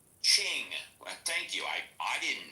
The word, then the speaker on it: Qing: It's pronounced asQing. Ching.